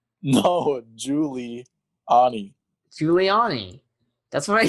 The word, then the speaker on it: Giuliani: actual giuliani i said giuliani you said julani no it did not